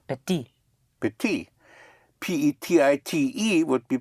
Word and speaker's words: petite: So you add an E for feminine and you pronounce the consonant.